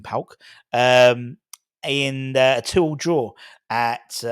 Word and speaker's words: PAOK: But that's how you pronounce it properly, AEK and PAOK.